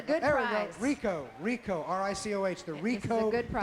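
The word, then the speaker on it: Ricoh: This is for, am I saying this right, Rico? Mark, am I saying that right? Rico Digital Camera. Is that right? All right. Rico. It's a good there prize. We go. Rico, R-I-C-O-H, the Rico good prize.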